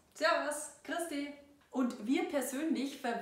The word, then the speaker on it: Servus: What you've probably heard before is the famous "Servus", but we pronounce it like "Servas". This is a popular form of greeting among groups of friends, for example. “Servas”, “Servas” “Griaß di”.